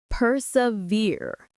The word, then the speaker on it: persevere: Persevere. The stress is on the last syllable.